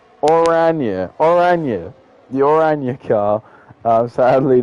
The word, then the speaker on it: Oranje: I'm trying to say Oranje. So I know in Dutch, orange is spelled with a J, and I wanted to say it the Dutch way.